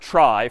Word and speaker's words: trie: a fancier tree and it's short for retrieval but pronounced try for weird historical reasons but a TR is